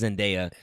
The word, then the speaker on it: Zendaya: How you pronounce her name? Mary Jane Watson. Yeah, the actors. I think it's Zendaya.